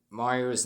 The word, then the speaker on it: Mario: He actually figured out that I said Mario's name wrong, because if you know in the coming soon video, I said Mario's name wrong.